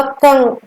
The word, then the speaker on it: कं: की मात्रा जोड़ेंगे तो इसका उच्चारण होगा कंग, कंग, के ए एन, कन, कन।